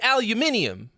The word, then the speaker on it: aluminium: second I in there it's not that we're saying it wrong it's that somebody spelled it wrong and we got stuck with it we read it how it's written if there was another I we would say aluminium we threw you out